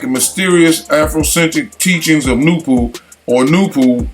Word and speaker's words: Nupu: mysterious Afrocentric teachings of Nupu, or Nupu, N-U-P-U, properly pronounced Nuwapu, taught by the enigmatic